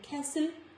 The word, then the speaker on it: castle: So after letter S, letter T is silent in the words like castle, not castle, castle, listen, nestle, wrestle and so on.